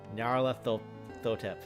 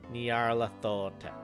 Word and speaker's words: Nyarlathotep: There's no official way to pronounce that name since it's a made-up nonsense word, but I prefer Nyarlathotep. Thank you, Stefan.